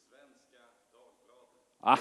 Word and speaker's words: Svenska Dagbladet: title to buy, or the Spiegel or the Svenska Dagbladet. Did I pronounce it correctly, the Svenska Dagbladet? More or less. How do you pronounce it? Svenska Dagbladet.